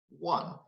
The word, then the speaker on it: one: So when I pronounce the word one, it sounds like one. So actually the sound is not a vowel sound, it's a consonant sound.